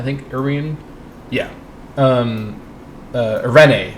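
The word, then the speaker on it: Eirene: irin yeah um uh arene that's that's how they pronounce it arene just going to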